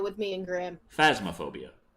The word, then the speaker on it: Phasmophobia: Oh, goody, now you can do longer sessions of Phantasmophobia with me and Grim. Phasmophobia. I'm saying it wrong to annoy you.